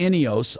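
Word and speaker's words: Ineos: to know if anyone is familiar with the inos I I think I'm pronouncing it properly inos inos inos it's I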